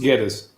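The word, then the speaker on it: Guedes: Was it G-U-E? So is that a J sound? No, it's G-U is to turn into a G sound. So it's pronounced Geddes.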